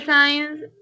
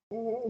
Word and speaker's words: since: Teacher, el science es desde, ¿sí? And since. O sea, ahí inicia la oración. Since. The correct pronunciation here is since. Because ¿Sí? you say science is like ciencia.